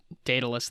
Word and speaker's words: Daedalus: Yeah, I think I don't know if it's pronounced Daedalus. Daedalus.